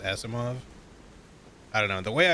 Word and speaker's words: Asimov: or ASMR but like I'm pretty sure Isaac Asimov is pronounced Asimov I don't know the